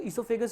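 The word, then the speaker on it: oesophagus: अच्छा यहाँ पे देखिए ईसोफेगस लिखा हुआ है पर एनसीईआरटी की स्पेलिंग में ये ओ है, हालांकि प्रोनाउंसिएशन हम इसको ईसोफेगस ही करते हैं, इट्स प्रोनाउंस एज ईसोफेगस, हालांकि वोकैब में इसको हम ओ लिखते हैं तो आप भी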